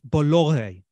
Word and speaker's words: Bolloré: The family that owns Vivendi are a French family by the name of Bolloré. I think that's how you pronounce it. It's spelled Bollore. Okay, I might be pronouncing it wrong.